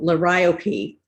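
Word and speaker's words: liriope: from southeast asia actually called la ryoki rhymes with calliope and it's nice and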